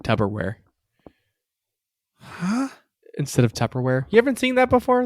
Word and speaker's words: Tupperware: say that again Tupperware say the first syllable tub wrong it's Tupperware with a p not a b and he's that's the